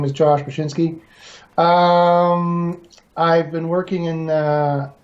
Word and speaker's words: Bachynski: So my guest today is Josh Bachynski.